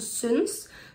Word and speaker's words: synes: także muszę tylko powiedzieć że akurat osines także często będzie wymawianie jako Sync to jest zależne od dialektu Ale wracając i teraz